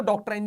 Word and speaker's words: doctrine: इसको डॉक्ट्राइन भी बोला जाता है, मतलब जनरल मेरे मेरे लिए तो करेक्ट प्रोनाउंसिएशन इसका डॉक्ट्राइन ही है।